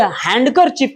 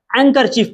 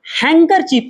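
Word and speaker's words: handkerchief: इसे हैंडकर चीफ नहीं पढ़ते। एंकर चीफ पढ़ते हैं। जरा इसकी स्पेलिंग देखिए। [नाक से की जाने वाली आवाज़] देखिए एन के बाद यहां पर डी आ गया। तो ऐसी कंडीशन पे डी नहीं पढ़ेंगे। इसे हैंकर चीफ पढ़ेंगे।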